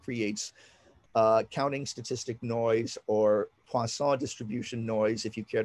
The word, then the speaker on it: Poisson: This is what creates counting statistic noise or Poisson distribution noise, if you care to look it up. That's like poison spelled with two S's.